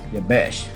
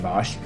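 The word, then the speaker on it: Jabesh: And in verse 10 and 11, so the men of Yabesh, excuse me, I said it wrong. Yabesh, not Bosh, said, tomorrow we come out to you, and you shall do to us whatever seems good to you.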